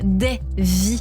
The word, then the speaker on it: Dvie: album Daisy alors Davis ça s'écrit mais ce sera des vie un peu plus loin comme plusieurs vies je suis ravie que